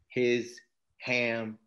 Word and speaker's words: Hisham: Sean you spell it h-i-s-h-a-m and I'll tell you a joke that lets people really remember his ham and I say that